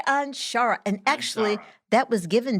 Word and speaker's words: Anshara: today this is uh on onshara how do you say that right i want to make sure shari anshara and actually that was